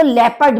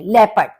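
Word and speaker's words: Leopard: पार्ड तें दवा इसको लेपर्ड बोलते हैं इंग्लिश में लेपर्ड मतलब जर्मन में आपका लेपार्ड है और इंग्लिश में लेपर्ड है जबकि आप स्पेलिंग देखेंगे दोनों की सेम है लेकिन प्रोनंसिएशन डिफरेंट है आपका आइन हॉर्न आइन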